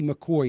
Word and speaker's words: McCaughey: Obamacare it's by Betsy McCoy now I'm going to spell her last name because it's spelled differently than it's pronounced it's m c c